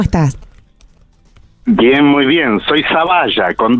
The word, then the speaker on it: Zavalla: Perdón, yo dije Zavala, tiene razón. No, Bueno. es que está bien. A veces en vasco, ¿cómo se llama? Como en italiano, la doble L a veces te la pronuncian como L. Claro. Pero es Zavalla, está castellanizado.